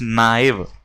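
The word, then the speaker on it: naive: Pronunciation ध्यान रखना, इट्स नॉट नेव, इट्स नाइव।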